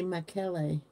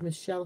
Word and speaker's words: Michel: well my the way my name is called mich l not two L's it's actually pronounced in france and italy miquellee it's actually Michael but I'm in America it's Michelle here so that's the way